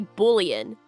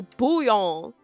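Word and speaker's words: bouillon: Also, I can't stand when people say bullion. Can you not read? Can you not read? That's booon. That I is before the L's. What do you mean bullion? When people don't know how to pronounce something and so they just like make it up with the letters that are there, they're like, "Yeah, that's bullion. That is bullion."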